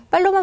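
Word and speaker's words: paloma: 팔로마 맞다고 했는데 아무튼 비둘기는 팔로마 자 된 소리로 다 발음해 주시면 되겠어요 자 그럼이어서입니다 자에 자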